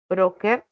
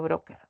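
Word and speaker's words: bróker: A ver, en la palabra broker es un término que, digamos, se pronuncia como palabra grave.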